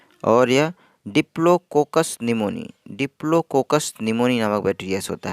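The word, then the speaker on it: pneumonia: बाद है निमोनिया निमोनिया निमोनिया की स्पेलिंग प्राइस में पीस साइलेंट है कि निमोनिया कि यह निमोनिया मैं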